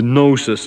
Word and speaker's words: gnosis: the gnosis instead of that word gnosis is the same read as i would know spelt with a k using how can i